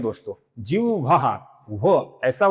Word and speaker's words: जिह्वाः: इसका सही उच्चारण है पहले ह फिर वो। जिह्वाः जिह्वाः। एक तो आप जिह्वः बोलिए या जिह्वाः बोलिए, ये सप्त जिह्वाः है।